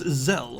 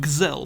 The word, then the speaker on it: Zelle: this is zelle or if you want to say it like how some of the characters in games say it gazelle but i find that a little bit difficult so we're going to continue with zel this is a top-down